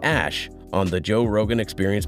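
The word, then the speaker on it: Æ: letter x and then the ae is like pronounced ash yeah and then uh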